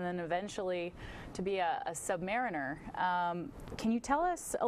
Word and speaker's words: submariner: that first of all Submariner is not a term we use that implies an inferior Mariner oh Submariner one who submarines now the Brits say Submariner so you're half right if we were doing this in London you'd be right on and I wouldn't say anything but a Submariner okay yeah I I